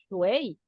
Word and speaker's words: shui: símbolo que significa agua se escribe shui, pero Sí. suena shuei, ¿eh?